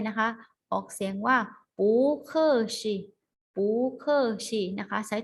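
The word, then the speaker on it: 不客气: ต้อง เกรง ใจ นะ คะ ออก เสียง ว่า หู เกอ สิ Google sheet นะ คะ ใช้ ต่อ กับ น้ำ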